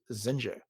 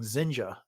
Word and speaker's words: Zinj: version of this book, I just always pronounced that as Zinj, but Me they were too. clearly saying Zinja in the Yeah, or Jinja almost. Yeah. yeah in the audio drama.